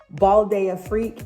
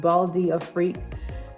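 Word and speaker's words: Bal d'Afrique: The next one that I ordered is, it's called Balde Freak.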